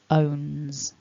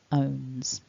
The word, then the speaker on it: owns: use that and then the s third person s because of the n is actually a z sound so we pronounce it owns owns so to whiz through